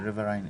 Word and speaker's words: riverine: The riverine area. Riverine. Yes. That's the pronunciation.